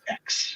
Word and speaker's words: X: an x it's just it's just an x it's it's pronounced x yeah i'm not like